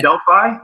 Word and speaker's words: Delphi: And I pronounce it Delphi, but it is certainly proper to pronounce it Delphi, which is the more European way. Okay. Our resident Bulgarian used to pronounce it that way. He's converted himself, but either way is right.